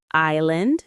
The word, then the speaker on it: island: Island, no S.